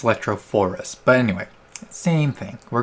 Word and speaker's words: electrophorus: all right in my other video i totally mispronounced this it's electrophorus but anyway same thing we're going to charge